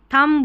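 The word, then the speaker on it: thumb: थंब बोलना है यहां पर थंब म तक ही यहां पर जो एम भी रहता है ना यह जो एम और बी यह बी का उच्चारण नहीं होता है यहां पर हिंदी में चलो ऐसा लिख दिया है लेकिन थंब करके ही बस थंब जाना है रुक जाना है यहां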